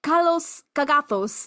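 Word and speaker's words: καλὸς κἀγαθός: A real kalos kagathos, I guess a cultured gentleman, that's how you say it in Greek.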